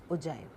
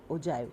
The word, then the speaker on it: ogive: Cumulative frequency curve या ओजाइव। हम इसको लिखते ओजी हैं पर स्पेल हम इसको ओजाइव करते हैं। स्पेल हम मतलब ओजी करते हैं पर प्रोनाउंस जो है हम इसको ओजाइव करते हैं।